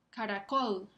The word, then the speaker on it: caracol: Caracol. ¿Escuchan el acento prosódico? Está sobre la última sílaba, col, caracol.